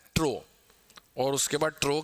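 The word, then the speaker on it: trough: Pronunciation क्या है? ट्रो।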